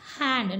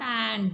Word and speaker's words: hand: Here we pronounce it as hand, not and.